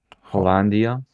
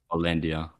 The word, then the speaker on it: Hollandia: I picked a beer which is called actually pronounce this hollandia hollandia this is a this is definitely a Max